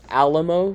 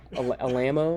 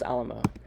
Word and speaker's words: Alamo: to talk about is Alam fire um it's pronounced Alamo not Alo or any of that um in case yeah it's pronounce Alamo um so Alam fire is an https networking